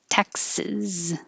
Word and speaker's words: Texas: Oh, Texas is Texas. Sis. Sorry about that. Texas has the vowel. As in head, and also like mess. So if you say don't mess with Texas, which is on all